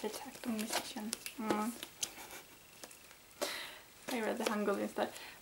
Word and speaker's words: Akdong Musician: I could have just that's how you pronounce it. Akdong Musician.